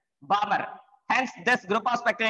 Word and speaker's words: Balmer: Here L is silent, Balmer.